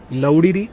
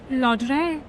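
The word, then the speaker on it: Ladurée: Laudiri? Ladiri? How do you pronounce it? Laudre. Oh, Laudre.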